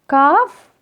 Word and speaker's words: calf: For example, leaf, leaves, thief, thieves, calf, calves. Remember, this L is silent.